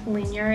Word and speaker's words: Linjer: you haven't heard of linear jewelry it's spelled l-i-n-j-e-r but you just pronounce it linear in the english vocabulary